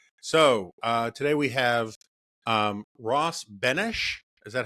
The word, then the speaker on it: Benes: So today we have Ross Benesch. Is that how I pronounce it? Yep, Benesch. Benesch. So like the heroic Czech president and not like Elaine from Seinfeld.